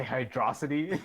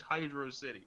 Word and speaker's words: Hydro City: that man was about to say hydrosity. No, because people like QB like, oh, Hydrosity, Hydrux City, Hydro City. Dude, people pronounce it so stupid. It's Hydro City.